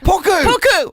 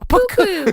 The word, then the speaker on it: puku: Not puku. Puku.